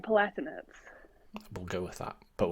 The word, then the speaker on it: Palatinates: I say Durham Palatinates.